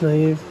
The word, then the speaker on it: naive: Bustos Colombian naive artist is that how you pronounce that form of Art it's naive yes and it's because